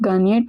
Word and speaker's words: gagner: Vous gagnez, the original verb is er ending verb gagner, to win. Also remember that the GN sound in French is pronounced as near. Gagner, near.